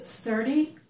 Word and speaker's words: thirty: When we say these numbers, the numbers in this column always have the stress on the first syllable. I've written some of the numbers over here. So this word is 30, that's this number.